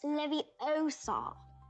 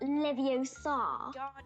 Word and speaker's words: Leviosa: When guardians, you're saying it wrong. It's leviosa, not leviosa.